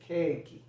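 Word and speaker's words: ケーキ: and japanese for example the english word cake in japanese is pronounced as keiki okay okay it's sometimes written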